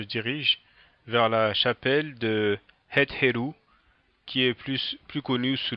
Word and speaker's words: Het Heru: Donc cette fois-ci, on se dirige vers la chapelle de Het Heru, qui est plus connue sous la forme gréquisée de Hathor. Donc peut-être qu'une prononciation encore plus aiguë que Het Heru serait Hut Heru, d'accord?